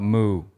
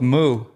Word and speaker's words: MØ: Mo that sounds French well I settled on moo after my Mo my intensive research apparently she likes she's accepts Mo because uh she's from Denmark or artist of the day and uh I'm going with moo but uh she said that you know because